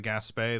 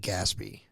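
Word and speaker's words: Gaspee: British Revenue cutter um is that how you say that that's that's how I pronounce it I always read it like gasby and then I feel like a child because I'm like I'm just dumb you have to pronounce it franch g that's right I didn't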